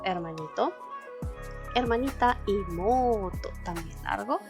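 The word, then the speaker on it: 妹: Igual les voy a dejar abajo en la cajita de descripción el video que habla sobre las largas pronunciaciones. Entonces, Ototo, hermanito. Hermanita, Imoto, también largo.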